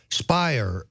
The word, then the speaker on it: Speier: is congresswoman Jackie Speier Speier rhymes with liar this is this is